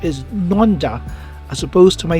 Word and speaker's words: Nendaz: videos pronouncing it as nandas that is the english way of pronouncing it to the letter it is still correct however the precise way to say it in swiss french is nonda as opposed to my